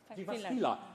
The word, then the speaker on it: Jyväskylä: And I cannot pronounce the name of your university. University of Jyväskylä? Jyväskylä.